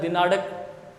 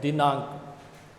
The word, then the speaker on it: दिनांक: हो, रंग क्या है, वो इसे ये भी पढ़ सकता है दिनाड़क, जबकि ये दिनाड़क नहीं है। अड़े तो नीचे बिंदी लगती है तब होता है। यहाँ इसका उच्चारण होगा अंग, दी ना अंक, दिनांक।